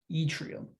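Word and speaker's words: yttrium: even doing this problem Atrium that's how you pronounce that by the way e tree and y-t-t-r-i-u-m etrium so right we're told that this short thing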